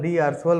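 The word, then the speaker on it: d'Arsonval: एक होता है डी आर्सोनवल आर्सोवल डी आर्सोवल बोलते थे हम लोग, तो एन साइलेंट है इसमें, डी आर्सोवल गैल्वेनोमीटर।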